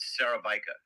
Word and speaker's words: Szarabajka: No, you pronounce it Szarabajka. Szarabajka.